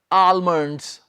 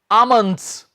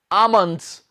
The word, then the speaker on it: almonds: आपको पता है, बहुत से स्टूडेंट्स इसे पता है क्या बोलते हैं, आलमंड्स। रॉन्ग, इसमें हम एल को नहीं बोलेंगे स्टूडेंट्स, प्रोनाउंस नहीं करेंगे। गलत बोलते हैं कई लोग, आलमंड्स नहीं होता, ये होता है आमंड्स।